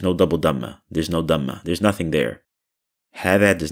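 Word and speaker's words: هذا: It's not hada, it's hada. Hada. Stress on the first letter there. Hada. Hada. It's as if you're ignoring the alif there.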